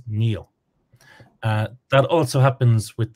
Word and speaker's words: Niall: just to be clear Irish pronunciation is very regular and it is Neil uh that also happens